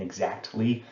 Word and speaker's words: exactly: I have a friend who always pronounces the T in exactly. She says it's there, why would I not pronounce it?